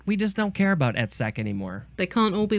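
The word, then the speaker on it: -ette: word is a suffix e TT I would just pronounce that ET and it's a noun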